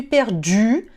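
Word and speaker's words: perdue: A diferença é que na ortografia o feminino tem um E no final, mas a pronúncia é a mesma. Je suis perdu para um homem, je suis perdu para uma mulher.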